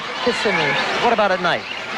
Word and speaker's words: Kissimmee: Is that the way you pronounce it? Kissimmee. What about at night? Kissimmee.